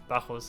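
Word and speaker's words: Bacchus: Bakus vine. Not sure why I keep calling it Bakus. I'm trying to pronounce it English like, but uh Bahos is right.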